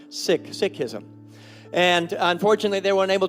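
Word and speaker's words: Sikhism: somebody from the sick tradition to be here seik as we know it but it's actually pronounced sick sism and unfortunately they weren't able to make it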